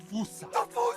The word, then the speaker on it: fossa: Experts feel free to correct me, but apparently that is the closest to the OG Malagasy pronunciation. It's just that the global game of telephone has Americans saying Fossa.